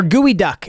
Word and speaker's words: geoduck: So, from top left, we have geoduck or gooey duck as it's pronounced.